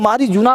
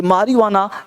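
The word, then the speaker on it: marijuana: Actually लोग मारीजुना पढ़ लेते हैं, मारीजुना का पेड़ देखा था, तो मारीजुना जो है गलत है, ये मारियुआना राइट है। लिखा हुआ है मारीजुना, ये जे का साउंड प्रोनाउंस नहीं करते हैं।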